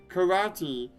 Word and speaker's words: karate: are actually incorrect pronunciations karate ends with an e but like i said e the e character is an e sound so it should be